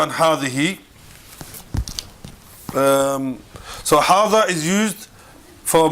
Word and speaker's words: هذه: And hadihi is pronounced as if it were written with an alif.